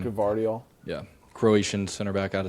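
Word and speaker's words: Gvardiol: I think for me, I'm going with Guardiol, right? That's how you say his name. Guardiol.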